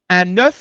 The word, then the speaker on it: œuf: à la prononciation hein on dit un neu ne comme le chiffre le chiffre 9 un mais on dit